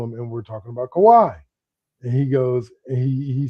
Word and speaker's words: Kawhi: Like 3 days ago, I'm sitting there talking to him, and we're talking about Kawhi. And he goes, and he says, first he calls him Kawi, then he calls him Kawhi, then he calls him Kawi.